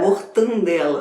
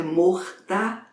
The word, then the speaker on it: mortadela: é a palavra mortadela eu ouço as pessoas de mortandela mas não é é mortadela o teu amor Belo